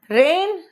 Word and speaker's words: rein: रेन रेन रेन, तीनों रेन, pronunciation तीनों का एक ही।